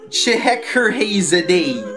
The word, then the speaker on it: Scheherazade: Scheherazade. My favorite game, the magic of... my favorite game. Well, now I know how to say it, so damn you, villain of the movie.